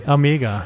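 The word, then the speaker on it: Amiga: You you'll be hearing a lot of people shouting amigga. Amigga. Yeah. And that that's that's a thing we've been hearing at Edison on other demo parties like people shouting amigga. Yeah. With a long a in a Yeah.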